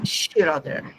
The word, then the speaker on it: Schröder: Gente, vamos ouvir essa incubadora maravilhosa, Jéssica Daniela, agora Schroeder. É assim que pronuncia?